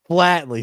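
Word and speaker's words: Flatley: Flattly. That was it. Flat tire doesn't rhyme with tire.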